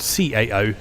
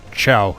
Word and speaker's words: Cao: name that is spelled C-A-O is pronounced Cao, not Chow, as I've been doing it in previous episodes.